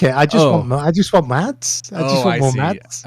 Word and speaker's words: Mads: Mads.